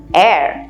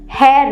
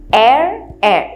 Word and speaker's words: heir: Alright, एयर यहाँ पे H silent है, हेयर नहीं, एयर एकदम सेम प्रोनाउंसिएशन है।